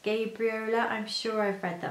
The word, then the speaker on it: Gabriola: I wore my Sewaholic Gabriola skirt, though I think it's supposed to be pronounced Gabriola.